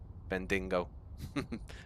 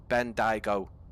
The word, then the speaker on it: Bendigo: aviation stuff like that it's pronounced bend bendigo bendingo bendigo I apologize mate uh but yeah